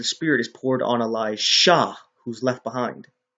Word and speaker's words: Elisha: I pronounce it clearly so you know they're two different people, Elijah and Elisha. One with a J, one with an S.